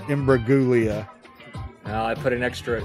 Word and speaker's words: Imbruglia: All I know is that Natalie Imbruglia. What did I say? Imbruglia? Imbruglia. Oh, I put an extra "oo" in there. It's like a Julia situation.